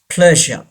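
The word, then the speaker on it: pleasure: यस, प्लेजर. प्लेजर. यहाँ पे भी आर को प्रोनाउंस नहीं किया जाएगा. प्लेजर. वो वर्ड हमने ट्रेजर पढ़ा हुआ है, इस वर्ड को हमने प्लेजर पढ़ा हुआ है, दोनों रॉन्ग है.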